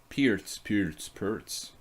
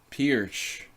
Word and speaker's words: Pirc: Pertz. Maybe Pirch. Pertz. Perk. Yeah, that's what Americans say too. So Pirch was like Slovenian, I think.